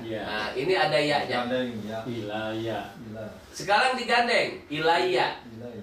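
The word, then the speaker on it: إِلَيَّ: Ilaya. Sekarang digandeng ilaya. Jadi ilaya dengan ya domir, maka dibacanya ilaya.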